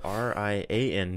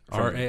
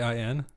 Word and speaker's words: Rian: Rain? Rian. I was going to say, isn't that just rain? No. Rain Johnson. Rain Johnson. But this is Ryan, spelled differently, but pronounced Ryan.